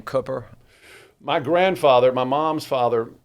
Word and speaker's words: Cooper: They're like, it's C-O-O, that's Coo, and I go, have you ever read a good book? I mean, you read a book.